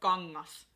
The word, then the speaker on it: kangas: For example, in the word kengät or kangas, etc. So the G kind of gets swallowed by the N. And the way you pronounce it is similar to the word king or ring.